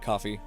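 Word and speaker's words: Ko-fi: I'm going to be pronounce Kofi. No, I'm calling it coffee because it's the idea as a coffee shop.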